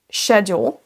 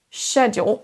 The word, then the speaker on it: schedule: Ce mot se prononcera de deux façons différentes, suivant si vous avez plutôt l'accent britannique ou américain. Prenez celui qui est le plus simple pour vous à prononcer. Dans l'anglais britannique, on aura le mot schedule. Schedule. On démarre par un son ch, schedule. Et l'anglais américain, on aura un son sk, schedule.